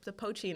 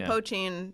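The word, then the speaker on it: poitín: I believe that's how you pronounce it because it's spelled like it's spelled POI with a little accent mark TIN, and it almost looks like potion, but it's pronounced poachine, I think. It's a potion. Yeah, But I believe it's pronounced poachine in the movie.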